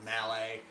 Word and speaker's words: Mallet: them oh they made this mallet here or melee as its supposed to be pronounced I just said mallet because I that's just how I say it and then they also